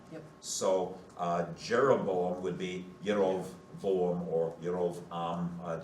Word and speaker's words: Jeroboam: There are no J's in Hebrew, so it would be Yerovam or Yerovoam.